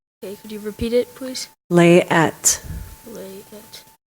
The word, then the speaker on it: layette: is a noun this word is from French layette maybe alternate pronunciations there is no alternate pronunciation could you repeat it please lay at L a ye ET this word has a